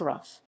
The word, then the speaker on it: Rougham: the ward touches chattacher thurston rattleston the fornhams and great barton morton hall lavinham haringer and southgate roughham is pronounced rough in 1958 the parish had settlements at mouse